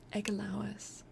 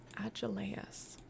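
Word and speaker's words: Agelaus: Egalois. Agelois. Ealois. Like you haven't been there the whole time. I'm sorry. Thank you. Agileas. Okay, so I was saying it wrong. Agileas.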